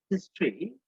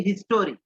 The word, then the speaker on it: history: হ্যাঁ, the ancient হিস্ট্রি of Sri Lanka, আমরা বলি হিস্টোরি, হিস্টোরি না, হবে উচ্চারণ হবে হিস্ট্রি। অর্থাৎ যেখানে টোরি থাকবে সেখানে হবে ট্রি, যেখানে টোরি থাকবে সেখানে হবে ট্রি।